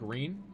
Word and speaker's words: Reen: Sounds like Reen. Pronounce it as a long E.